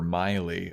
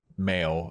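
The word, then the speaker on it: Maile: with the ripped paper Miley which is spelled m a i l e mhm uh which was a bit of a disagreement between Hannah and Fran because Fran pronounces it male and she's like she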